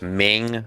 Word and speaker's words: Ming: I'm sorry, it's Ming, not Ing.